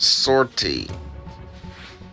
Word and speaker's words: 50R-T: the star wars universe 50 rt pronounced sortie a tactical droid with